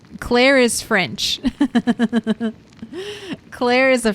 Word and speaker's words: Claire: Claire is hard to pronounce. Unless you're good with your L and your R sound, the rhotic R. Claire is a fucking awful name to pronounce. But you can blame the French for that.